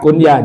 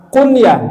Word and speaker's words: kunyah: orang Arab punya nama kunyah Jangan dibaca kunyah karena kalau tulisan dalam Latinnya itu biasanya apa Iya kan k u n y a h orang pada bacanya Kunya Harusnya apa Kunya itu Kunya ya kalau dulu ada